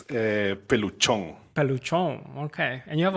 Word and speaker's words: Peluchon: Yeah, no, it's not Pelucon. It's Peluchon.